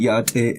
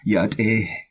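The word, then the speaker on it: yá'át'ééh: So in the word yate, every syllable is high, so you have to maintain a high pitch throughout the word. Yate. Alright, and the H at the end of the word is pronounced like a soft breath.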